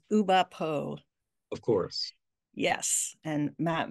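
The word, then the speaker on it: Oulipo: How do you pronounce that French group? It's Uba Po.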